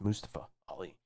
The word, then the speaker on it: Mustafa Ali: I pronounced their name right. It's Mustafa Ali.